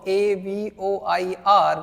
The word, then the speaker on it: avoir: In order to ask, in order to say, you should know this important verb A-V-O-I-R, which means have or has. How do we pronounce this verb?